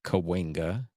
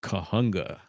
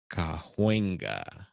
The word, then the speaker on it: Cahuenga: A lot of people, and I think we most of us local here pronounce it Cahuenga, but I've heard people pronounce it Kahunga. But it's Cahuenga.